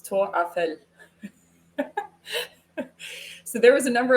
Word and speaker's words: Tour Eiffel: Another one is Eiffel Tower is not how they say it. It's Tour Eiffel.